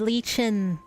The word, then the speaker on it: Lichen: I'm Lichen. Young friend, do you remember me? It's pronounced as Lichen, I see.